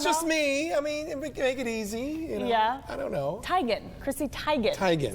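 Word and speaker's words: Teigen: digan isn't it Bob for years people have been mispronouncing Christie's last name we all say it like Tegan so Chrissy posted this video on Twitter today saying it's actually Tigan she got some flack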